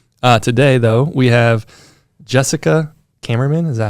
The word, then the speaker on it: Kamerman: Today, though, we have Jessica Kamerman. Is that how I say it? Yep, Kamerman.